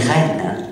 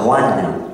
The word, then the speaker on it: reine: illogique de la langue, on dit reine. On ne dit pas roine, qui existait pourtant. D'accord, le terme roine est. Roi, roine existait, ré, reine, hein, on a conservé